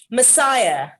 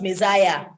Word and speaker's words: messiah: stress is on the first uh sound colleague messiah not messiah there is charity the judge ordered him to